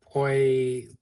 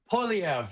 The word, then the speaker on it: Poilievre: Was it Poisha? That's as good as I could do. Poisha. You got the first syllable, Yeah. sort of. You're being generous with me. I appreciate that. Poilievre. Polyev, that's it.